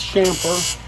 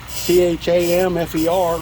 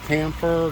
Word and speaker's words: chamfer: And that is chamfer, C-H-A-M-F-E-R, if you're interested in the spelling. Some people call it camphor, different things, but the correct pronunciation is chamfer.